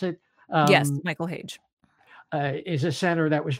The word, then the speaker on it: Hage: Is that how you pronounce it? Yes, Michael Hage.